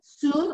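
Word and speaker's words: cun: It's written C-U-N, but it's pronounced soon.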